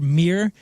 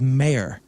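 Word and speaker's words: Meer: And the English mispronounced the German word mere and thought it was mare. Right. So they called it mare radish.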